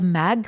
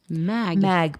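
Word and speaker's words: Maeght: heart and that's called the mag foundation mag but it's spelled m a e g h t it's a dutch word m a e e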